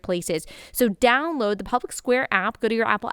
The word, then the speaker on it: Public SQ: And Public Square, the app, Public Square, is allowing you to do just that. So it's pronounced Public SQ. It's short for Public Square, and it's an app